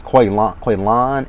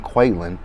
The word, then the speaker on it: Quaylan: Now see, he said his name was Quaylan, and she kept saying Quaylen.